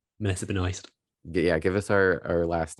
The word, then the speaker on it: Benoist: Melissa Benoist.